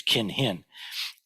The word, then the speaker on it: kinhin: with walking meditation uh from the Japanese pronunciation which is kinhin in um Sino Korean it's gang hang and it actually means